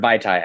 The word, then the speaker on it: Vaitai: I just remember Vaitai. I cannot pronounce the first name. Yeah, I always think of the alcoholic drink, Mai Tais.